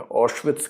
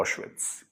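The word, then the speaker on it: Auschwitz: ओशविथ्स कहते हैं उसको ओशविथ्स नेट पे सर्च कीजिए ओशविथ ए यू एस सी एच डब्ल्यू ए टी जेड शायद स्पेलिंग है।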